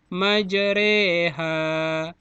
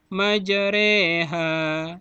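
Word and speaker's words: مجراها: Kalimatnya bertuliskan majroha. Tapi pengertiannya menyebutkan memiringkan bunyi fathah pada kasrah. Bagaimana caranya? Maka majroha dibaca majreha. Majroha dibaca majreha. Ingat ya, majreha.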